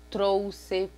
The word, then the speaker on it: trouxe: também com X, e esse X com som de dois S. A palavra trouxe, próximo. Então, todas essas palavras, ela tem um som, nós escrevemos com X, mas nós pronunciamos ela com esse som de dois S, como se tivesse dois S ali, mas a escrita é com X, certo? Vamos ter o X também